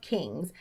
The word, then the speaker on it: kings: dos reis King of kings aqui o g bem fraquinho he King will